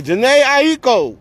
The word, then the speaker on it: Jhene Aiko: Okay, Jhene Aiko.